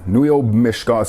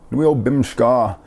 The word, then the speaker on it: bimishkaa: Bimishkaa. I want to go out boating. Long story short, a word you can use for boating is bimishkaa, or bimishkaa as we pronounce it around here.